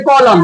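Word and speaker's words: column: क्या रहना चाहिए एम यदि n से पहले एम रहेगा तो एन को क्या कर देंगे साइलेंट इसको हम क्या बोलेंगे कॉलम कॉलम क्या बोलेंगे कॉलम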